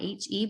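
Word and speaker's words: H-E-B: never heard of heb it's not we actually do spell it out heb it's the the it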